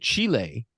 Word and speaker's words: Chile: mine in Chile and she kept pronouncing it Chile which is you know how they pronounce it down there but I said okay